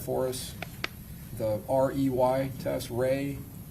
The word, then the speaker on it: Rey: There's also a visual spatial ability test and I'm going to have you explain or pronounce that for us. the REY test. Ray, the Ray Astrich complex figure test.